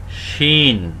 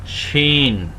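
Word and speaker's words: شين: নুক্তা একে বলা হয় শিন শিন শিন শিন একটু মোটা হবে সিন থেকে একটু মোটা হবে শিন শিন কেউ যদি বাংলার সাথে তুলনা করতে চান তাহলে তালব্য স এর মত উচ্চারণ হবে শিন শিন শিন শিন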